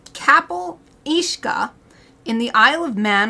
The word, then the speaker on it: Cabyll-Uisge: like half an hour looking up the pronunciation for this it's KAAL ishka in the Isle of